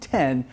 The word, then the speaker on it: Brood X: CICADAS THAT WILL EMERGE THIS YEAR ARE BROOD X (PRONOUNCED 10) ONE OF THE LARGEST GROUPS OF PERIODICAL CICADAS IN THE WORLD.